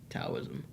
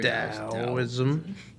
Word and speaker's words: Taoism: that, like Buddhism and Taoism. Or Taoism. You can mispronounce one philosophy, not two. You just mispronounced philosophy. Yeah, I did. Why didn't they just put a D there?